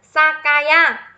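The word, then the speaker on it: 酒屋: Cách đọc của chữ này chính là Sakaya. It is Sakaya nhá.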